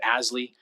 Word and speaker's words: ASLI: living initiative or asli we use the acronym pronounce it asly to to build more